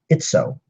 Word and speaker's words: Itsoe: She is a member of the Brillar, and that's how you pronounce her name, Itsoe.